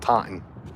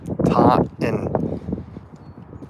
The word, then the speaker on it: Taunton: There's no second T. If you just say it when you're here, it's just Taunton. Taunton.